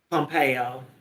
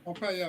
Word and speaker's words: Pompeo: Pompeo a that how you say his name Pompeo Pompeo yeah he's thr with them and saying that